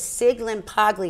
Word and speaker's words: Sciglimpaglia: spill your last name again s-c-i-g-i-r-l-s so it's sig limp ugly yet so babe it's like a silent s